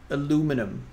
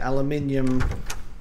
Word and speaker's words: aluminium: pipe away now we can use the the aluminum the aluminium bat that's right i pronounce it aluminium because that's how that's how we say it